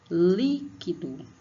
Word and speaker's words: líquido: Líquido, líquido. Ó, li. O acento agudo na vogal I, porque somente as vogais podem ser acentuadas.